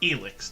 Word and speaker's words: Elex: published by THQ Nordic elix and yes it's pronounced Alex not Alex despite the spelling before we get